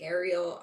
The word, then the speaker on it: Arie: Everyone calls me People don't know how to pronounce my name. They call me Ariel. Ariel. It's I say just call me Ari like Ariel.